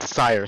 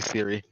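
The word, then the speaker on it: Cire: Nah, my name is Sire, spelled with a C. Unfortunately, because too many people played The Witcher, everyone calls me Siri.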